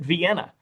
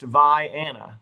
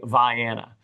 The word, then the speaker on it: Vienna: Uh I know that everyone else on the face of the planet pronounces it Vienna. So uh in Illinois it is pronounced Vanna.